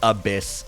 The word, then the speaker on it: Abyss: Okay, it is pronounced Abyss, like... When you looked into the abyss, you blinked.